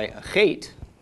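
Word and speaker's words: אח: If we have an Aleph with a comets followed by a Chet, this is pronounced Ach. Short A of the comets, followed by the ch of the chet, makes ach.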